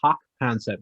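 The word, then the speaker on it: Jaak Panksepp: His name's Hawk Concept, but spelled like JAAK.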